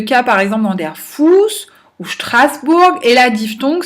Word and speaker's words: Fuß: Der Fuß, der Fluss. On entend bien que Fuß, c'est beaucoup plus long que le OU de Fluss.